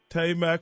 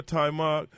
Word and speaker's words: Taimak: I read somewhere, Taimak, did I pronounce it right? Yeah, no, Taimak.